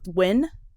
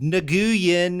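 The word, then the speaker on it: Nguyen: all like an ory they're pronounced isn't it like win yeah like people be like Nan and you're like that's not how it goes at all yeah somehow it's win I'm sorry yeah um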